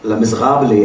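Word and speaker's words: Les Misérables: I often quote these 4 magical lines from one of the classic novel titled Les Miserables, or Les Miserables as the French pronounce it, written by the great Victor Hugo.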